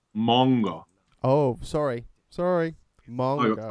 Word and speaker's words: manga: It's not pronounced manga. Oh, sorry. It's pronounced manga.